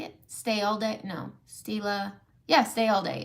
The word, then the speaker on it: Stila: No, Stila.